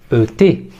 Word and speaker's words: et: Une petite remarque sur le mot de liaison et, et. Ce mot se prononce bien et. En revanche, attention de ne pas faire de liaison.